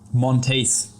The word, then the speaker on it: Monteith: How do you pronounce it again? Monteith.